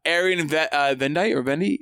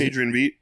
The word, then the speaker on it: Adrian Veidt: Adrian Vendi? What is Adrian Veidt. Adrian Veidt. I always say his name wrong.